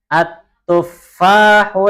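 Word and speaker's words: التفاح: Fa-nya ditasydid. At-tuffahu ladzizun.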